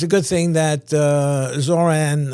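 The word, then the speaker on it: Zohran: It's a good thing that Zoran rhymes with moron.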